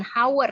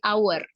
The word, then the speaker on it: hour: Contoh lainnya adalah kata hour ya, hour, tapi bukan hour ya cara membacanya, tapi hour.